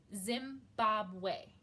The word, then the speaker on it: Zimbabwe: "How do you pronounce that last country?" I asked. "The one that starts with Z." "Zimbabwe," she said.